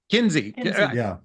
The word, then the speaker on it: Kinsey: um uh Kings um the other kiny KY Kinsey please forgive me I didn't I mispronounced it I suspect a lot